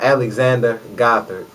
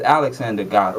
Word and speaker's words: Alexander Gothard: How do you, Well, I pronounce Alexander Gothard. It's Alexander Gothard.